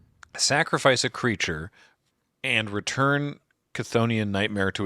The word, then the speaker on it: Chthonian: How's it pronounced? Chthonian.